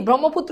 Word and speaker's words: ব্রহ্মপুত্র: এটার উচ্চারণ বুঝতে হবে এটার উচ্চারণ কি ব্রহ্মপুত্র এটার নাম এটার উচ্চারণ হচ্ছে ব্রহ্মপুত্র আবার বলছি এটার উচ্চারণ